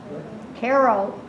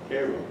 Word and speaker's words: Cairo: is pronounced Koo is pronounced VI Koo is pronounced Caro yeah caroo Koo the town in Illinois is pronounced Caro